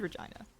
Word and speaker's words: Regina: It is Regina. Yeah, it sounds vaguely similar to a different word. Pronounced it Regina. Like Regina Phalange.